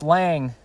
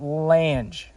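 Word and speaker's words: Lange: Rover Series 3 pickup totally pronounced his last name wrong last time sorry Gerald it's just Lang with an e at the end it's not Lang that's that's my bat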